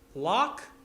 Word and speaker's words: loch: you say Lake in Irish and Scottish Gaelic Locke as in the Loch Ness monster that's it the wreck